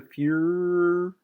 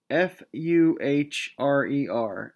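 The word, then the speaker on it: Führer: power in germany he named himself defurer their fuhrer i can't really pronounce it they're fuhrer of germany d e r the d e r f u h r e r f u h r e r der fuhrer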